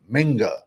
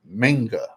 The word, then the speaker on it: Mingo: It you got to pronounce it right. Mingo's name is Minga. It's Jonathan Minga.